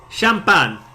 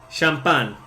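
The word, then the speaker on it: champán: That's That's Champan. Champan.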